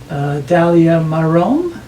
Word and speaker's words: Dalia Marom: We are in Point Claire today with my co-host Isabel and our wonderful guest, Dalia Marom. Is how you pronounce it?